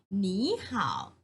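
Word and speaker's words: 你好: เสียง คำ ว่า มี เป็น หนี นะ คะ หนี ห่าว หนี ห่าว แปล ว่า สวัสดี ค่ะ เด็ก ๆ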